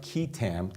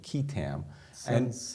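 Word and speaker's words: qui tam: um and what is a quam suit it's pronounced kitam typically kitam uh more Chinese to me Asian but actually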